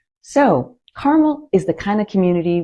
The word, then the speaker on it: Carmel: And remember, it's not pronounced like Carmel in California. So, Carmel is the kind of community where neighbors actually know each other.